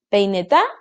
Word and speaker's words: peineta: Celular, última sílaba. Peineta, peineta o peineta.